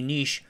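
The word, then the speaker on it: Niš: semiconductor giant: Elektronska Industrija Nis (Електронска индустрија Ниш) or EI Nis. ## Beginnings The Nis in "EI Nis" - rhymes with "leash" - refers to a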